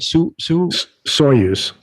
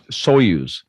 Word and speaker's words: Soyuz: Is that, how do you pronounce the Russian rocket? Soyuz. Soyuz.